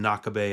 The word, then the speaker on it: Knockabay: I hear whispers of it from the TV screen or from the conversations of the older kids on Knockabay Ave, pronounced Knock-a-Bay.